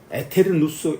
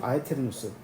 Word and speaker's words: aeternus: 예, 성자도 동등 본질이 동일 본질이기 때문에 에테르누스 영원하다. 시작과 끈이 없는 영원하다. 에테르누스 AETERNUS 에테르 AETERNUS 라틴어인데요. 원래 아에테르누스잖아요. 그죠? 아에테르누스. 근데 이 교회 용어로는 이걸 에로 그냥 발음합니다. 에테르누스라고 해요.